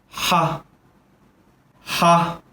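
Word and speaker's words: ح: doesn't have any dots this is exactly the same as the english h but it's aspirated which means that the air must come out of the lines close your eyes listen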